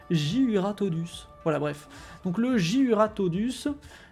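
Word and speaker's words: Jyuratodus: Ta cible est cette fois un Juriatodus. Non, attendez. Juratodus. Putain, c'est dur à dire, en fait. Hein. Dès qu'on s'attarde un petit peu pour bien le prononcer. Juratodus.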